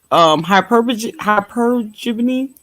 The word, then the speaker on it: hypergamy: Okay, hypergamy.